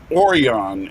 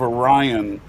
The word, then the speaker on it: Orion: of all I don't why they started calling I think that the word oron instead of Orion uh was everybody watch